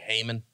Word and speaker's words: Haman: In English, we just say Haman.